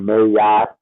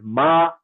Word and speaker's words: Ma'at: Okay, I hear people saying this name so many different ways. Like they be saying Mayat, Mayat, Mayat, all these different names. It's Ma'at. Ma'at. Ma'at. That's it. That's how it's said.